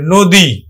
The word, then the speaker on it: নদী: দীর্ঘইকার আছে, তাহলে আমরা উচ্চারণ করব কিন্তু নো আর দয় রস্বইকারে দি, আমরা দীর্ঘইকার উচ্চারণ করি না, রস্বইকার উচ্চারণ করি, নদী।